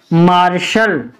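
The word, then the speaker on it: martial: पढ़ते हम शान तो यहां पर क्या पढ़ेंगे मार्शल ए सी टी यू ए एल यानी टी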